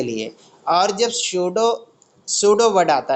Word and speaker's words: pseudo: Okay, yes पी, उसकी spelling क्या है सूडो की, PSEUDO, सूडो। सूडो का मतलब क्या होता है, फॉल्स।